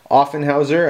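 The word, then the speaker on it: Offenhauser: plane we got here this is an offen Houser I think is how you say offen Houser that's how I say it I don't know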